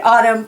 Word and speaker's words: autumn: So you have a lot of silent N's on this page. You have a silent K here, and you have a silent N here, and N is silent here, and in the word hymn too.